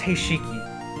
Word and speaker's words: Heishiki: by the way um it's pronounced hey Shiki let's get into hey